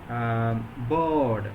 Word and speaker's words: board: means in the word board b-o-a-r-d other pins the letter r or the sound rule is followed by the consonant D that means in such context we should not pronounce the sound that means if the